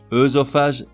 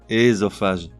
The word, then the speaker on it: œsophage: Pupille, pupille, qui représente la prononciation la plus correcte, mais aujourd'hui rarement usitée. Osciller, osciller. Œsophage, ésophage.